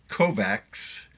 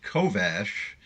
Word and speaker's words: Kovacs: Kovacs, that's how it's spelled, but it's pronounced Kovash, is a former envoy,